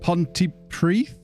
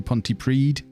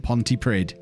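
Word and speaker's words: Pontypridd: drive oh dear right ponte preeth did we decide that's how it's pronounced i think it depends on which part of whales you're in it could be ponte preed but i do know and i have learned that it's not ponte prid but we're 12 games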